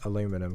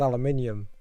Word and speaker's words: aluminium: it's like you know it makes sense that you'd say it as aluminum because that's how it's spelt but everyone like elsewhere in the world is like no it's aluminium just like there who